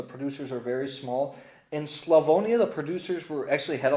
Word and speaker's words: Slavonia: So, we just got back from an exciting multi-day trip tasting through the region of Slavonia, not Slovenia. Thank you, Shireen, for correcting my pronunciation.